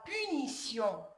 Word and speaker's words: punition: La lettre T aussi peut se prononcer S, comme la location, la punition, l'acrobatie, un péripétie. Ici, c'est le cas dans beaucoup de noms terminés par sion. Sion, il est devant une voyelle I. Aussi, le T ici, il est devant une voyelle. Il doit être prononcer S.